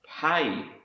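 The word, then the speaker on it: פא: in the Square script this word is pronounced pay in Hebrew and it's the letter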